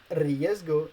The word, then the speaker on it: riesgo: and men's risk and in this last case word you have to pronounce riesgo as if it was a double r because it at the beginning of the word the letter s in